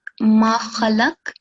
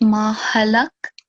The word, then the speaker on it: ما خلق: Yeah, so here, you recited here, this is ma khalaq, but you recited it as ma halak. So you know, you can hear the difference in the sound, right? Kha and ha.